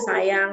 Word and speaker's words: sajang: Seperti ini ya, tulisannya sajang, saja, tapi dibacanya sayang, saya ya.